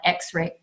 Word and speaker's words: XR AI: of the slide says XR AI we pronounce that X-ray and this project is